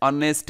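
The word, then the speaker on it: honest: যেমন সুলতান Ahmed is অ্যান অনেস্ট ম্যান, এখানে অনেস্ট এখানে অনেস্ট শব্দটা একটু আমি কালার করে দিচ্ছি। অনেস্ট, অনেস্টের উচ্চারণ কিন্তু এইচ উচ্চারণ হয় না।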